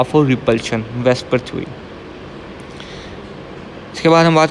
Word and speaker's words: VSEPR: वेस्पर pronounce वेस्पर, इसको pronounce ऐसे किया जाता है।